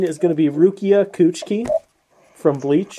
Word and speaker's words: Kuchiki: Uh, 17 is going to be Rukia Kuchiki from Bleach. Who's Coochie? What? Kuchiki. Can you spell that?